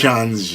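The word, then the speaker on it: Xande: Or I would go to a Shanji, because he scolded me and DJ for getting his name wrong at Worlds. So it's Shanji? Shanji.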